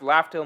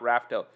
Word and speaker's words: Laugh Tale: daniel ramirez cruz thanks for a lot it's pronounced laughter morgan not rafto i know but raftel is cooler i like i know what how